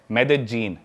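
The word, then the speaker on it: Medellín: उसकी एक सिटी है मेदजीन स्पेलिंग में उसमें डबल एल आता है मेदलीन होता है लेकिन कोलंबन स्पेनिश में ल को ज बोलते हैं तो मेदजीन वो शायद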